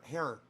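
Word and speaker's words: Herer: clothes by jack air hair h-e-r-e-r jack the easiest way to remember how to say his name hair just grab your hair down here ladies hair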